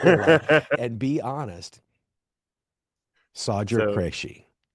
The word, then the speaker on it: Sagger: And be honest, Sodger So Creshi. more swagger without a W is what I tell people. Swagger. Sagger.